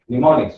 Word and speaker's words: mnemonics: M is silent over there. Mnemonics. Mnemonics. You need to call it as a mnemonics.